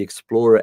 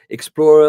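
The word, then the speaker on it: Xplora: out for me is they've partnered with the Explorer app which is spelled x p l o r a so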